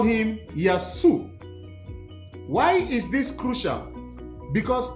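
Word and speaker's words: يسوع: They call him Yasu.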